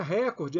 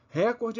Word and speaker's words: recorde: púdico é pudico não é récorde é Record recorde é a pronúncia do inglês no português é recorde assim como são proparoxítonas